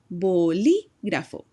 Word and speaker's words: bolígrafo: Remember, when you see that accent mark over the vowel, you want to make sure you put your voice emphasis on that syllable. Bolígrafo.